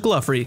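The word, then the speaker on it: Glouphrie: It's pronounced Gluffery.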